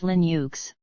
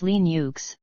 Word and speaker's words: Linux: Linux should be pronounced Linux with the short I as in print and U as input